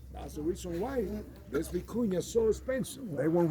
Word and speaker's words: vicuña: Our biggest national treasure, vicuña. You pronounce it with a V as Victor.